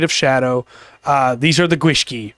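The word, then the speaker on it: gwyllgi: the Irish Isles there, but they do not pronounce them the same. Yeah. It looks like Gwilgi, but it's Gwishki.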